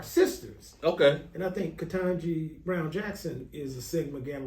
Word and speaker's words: Ketanji: Man, I hope I pronounce her name right. You got it. Ketanji?